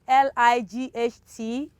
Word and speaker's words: light: third one we have l-i-g-h-t g-h also in this world is silent we have light there is no way we can pronounce gh in this context light might night they're all examples where letter g h is silent and the third the